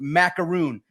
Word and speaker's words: Maakaron: And my last name is pronounced Maakaron, like the cookie. Maakaron.